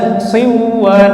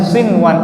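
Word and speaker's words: صنوان: Ada baca siwan, nah itu salah ya. Maka bacanya sinwan ilhar.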